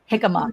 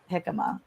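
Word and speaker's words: jicama: Am I my hikima? It's actually J I C A M A is how you spell it. Hika when you say Jose.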